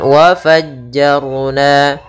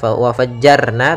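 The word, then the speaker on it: وَفَجَّرْنَا: Kemudian wa fajjarna, ra di sini tebal, jangan dibaca wa fajjarna tapi wa fajjar, wa fajjarna fiha.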